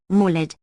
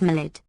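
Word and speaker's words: Maulid: say the defective ear would hold as Lane does molid equals birth Festival more properly pronounced malid yet type of thick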